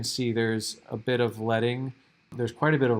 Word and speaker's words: leading: so next we have this is actually pronounced letting not leading and it's called that